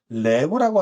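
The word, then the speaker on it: לב: 구부러져 있는 지팡이를 의미하고 영어의 L, 그다음에 리을 발음을 낼 수 있습니다. 그래서 히브리어 단어 중에 레브라고 하는 단어가 있어요.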